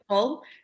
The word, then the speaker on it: Hull: I'll say it properly. Hull with a H.